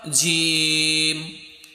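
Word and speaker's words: جيم: আর জিমটা উচ্চারণ হবে তোমার জিহ্বার মাঝখানটা উপরে তোমার তালুতে গিয়ে লাগবে, জিম জিম।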